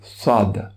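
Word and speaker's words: ص: c'est la lettre soldes pour la prononcer correctement il faut essayer d'imaginer qu'à l'inter de la bouche on a une balle par exemple une balle de ping pong ou un oeuf cas une forme arrondie et donc la langue l enveloppe cette balle elle ne peut pas bouger elle ne peut pas s'appeler attire dans quel camp vous prononcez le s il faut garder cette forme chez non chez une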